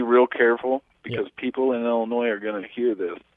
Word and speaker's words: Illinois: Yeah, well, you got to be real careful because people in Illinois are going to hear this. Oh, okay. Make sure your S is silent.